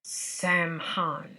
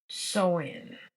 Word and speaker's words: Samhain: It was a Celtic celebration of the new year called Samhain, Samhain, but I think it's pronounced Soin, which occurred on November the 1st.